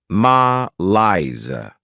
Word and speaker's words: malaise: Behavior next is malaise this word has two syllables and the stress is on the second syllable ma Lia this is not a